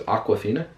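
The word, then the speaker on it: Awkwafina: hard name to say her name is aquafina so like the water I guess but yeah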